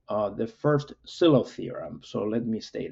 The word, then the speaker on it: Sylow: He was Norwegian, so I believe, in fact, that last name is pronounced Sylow, not Sylow, but many of us, at least in the US, say Sylow, even though it's wrong, but most people say Sylow.